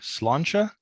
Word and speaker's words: Sláinte: book you're the uh co-author of the book slancha did I pronounce that correctly you did indeed the complete